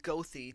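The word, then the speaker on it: Goethe: If there's a letter there, we're going to say it. Displayplains is pronounced Displains. This the really short street downtown is pronounced Gothy.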